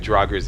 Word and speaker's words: Draugr: okay, there's basically 5 Draugrs in here. I'm pronouncing it Draugrs for now because I've never heard any NPCs pronounce his name before, so I'm assuming it's pronounced Draugr. Anyways, they're all in those coffins.